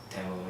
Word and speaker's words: Tamil: And Tamil. Is that how you say it? Tamil, yeah.